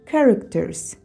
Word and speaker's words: characters: Но в этом слове читается как «к» – «characters», «characters».